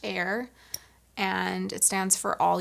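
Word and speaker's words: AYR: made in La denim it's spelled a yr pronounced air and it stands for all year round and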